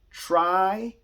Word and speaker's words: tribunal: It's 3 syllables. Just 3. Tribunal. That's all it is. 3 syllables.